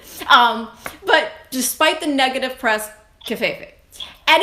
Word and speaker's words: Covfefe: Now, obviously, it's a made-up word, so you can say it pretty much however you choose. How do you, Brad Cox, say her name? Covfefe.